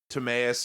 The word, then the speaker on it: Timaeus: Is it Timaeus and Critias? I don't know. Timaeus and Critias, Yeah, great.